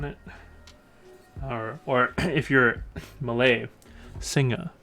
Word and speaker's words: Singa: or if your Malave singer because apparently don't pronounce the uh the G hard this is a pretty